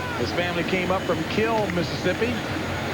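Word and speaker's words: Kiln: family came up from kill mississippi actually spelled k-i-l-n but pronounced kill and there's his father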